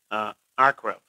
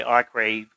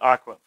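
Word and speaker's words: עקרב: word you see there, akrab. It's pronounced the way it's pronounced in Hebrew. And of course, we in English, we may say arkrave, because we want to kind of sound every letter, but it's akrab.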